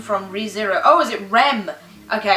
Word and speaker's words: Rem: Oh, is it Rem? Okay, I mispronounced the name, I said Ren, but I got it right.